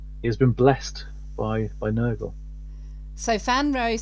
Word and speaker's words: Nurgle: I was very taken with your Nurgle Space Marine. Did I pronounce that right? Yeah, Nurgle.